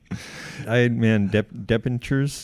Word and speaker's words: debentures: Debentures. Yeah, so it's about companies. Debentures. Yes. Yeah. Debentures. Is there a B in there? Is it a B? Is it silent?